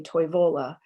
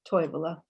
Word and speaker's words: Toivola: a town name there some people will say toivola and you can hear the stress shift on the second syllable but finnish would say toy villa oops sorry i lost